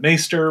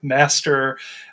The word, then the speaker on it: Maester: called maester I believe as some may pronounce that maester M Master uh I'm gonna I'm gonna go with maester um and this is